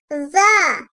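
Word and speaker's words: ظ: Dil ucunun ön dişlerin arasına hafifçe girmesiyle çıkartılır, peltek olarak telaffuz edilir. Za.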